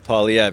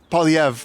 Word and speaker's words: Poilievre: I'm not sure, but don't sleep on Poilievre.